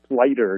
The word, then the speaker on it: Sluyter: because I know it's one of these lacking Dutch names lighter you never guess that it has a union that people have trouble with that so you pronounced